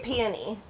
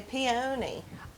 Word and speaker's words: peony: So how do you pronounce this? I say peony because Peony. I'm from Alabama, but some people say peony.